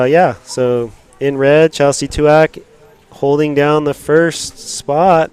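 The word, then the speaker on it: Tuach: let's hear it so so uh Chelsea Chelsea twak there we go just figured out how to pronounce it so uh yeah so in red Chelsea tuak holding down the first spot with two and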